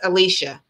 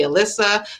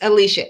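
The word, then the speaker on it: Alysha: head they'll call me alyssa they'll call me ashley or a lit nobody can pronounce it alicia but that's okay but you guys know it's alicia a-l-y-s-h-a i don't mind when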